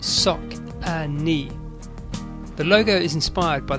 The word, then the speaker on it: Saucony: The name Saucony is pronounced Sock-a-Knee.